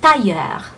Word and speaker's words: tailleur: But in that word is pronounced tailleur. Tailleur. Tailleur. Tailleur. No le, just tailleur. Tailleur. No le, I'm hearing a hint of le.